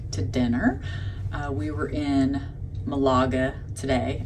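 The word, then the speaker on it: Málaga: dinner we were in Malaga today I keep wanting to say magala I hope I didn't say that earlier or mispronounce it but I want to mess up the G so anyway it was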